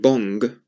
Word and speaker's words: bon: As I said, if you say the word bong and take the G off, that's how you say bon. Bon. But when it's followed by a word that starts with a vowel, you can pronounce the N more.